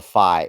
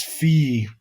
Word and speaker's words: Phi: It's phi if it's dudes, and it's fee if it's ladies.